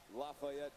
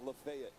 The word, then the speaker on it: Lafayette: Like, some are pronounced completely different anywhere that I go. So, like, one I'll use is like Lafayette. That's Lafayette, say, in the Midwest. If I'm down south, that's Lafayette. And I could be somewhere